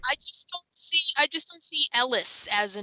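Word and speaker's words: Heris: spelled Eris with a silent H, but it's pronounced Ellis.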